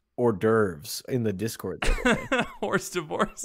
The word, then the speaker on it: hors d'oeuvres: how about the people being like Ethan it's pronounced hors d'oeuvres in the Discord worst divorce it's like I